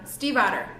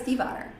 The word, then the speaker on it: Stiefvater: Stiefvater, just by the way. Because they really didn't even address that at BookCon. They were just like making fun of how nobody knows how to say her last name. If you listen to the audiobook, it says Stiefvater. Well, and she, super awesome, somewhere on the interwebs, she actually says it for you and like gives